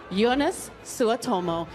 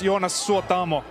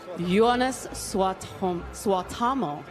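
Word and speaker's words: Joonas Suotamo: Ladies and gentlemen, Jonas Suotomo. Hi, how are you this evening? I'm very good. It's pronounced Jonas Suotamo. Jonas Suotamo.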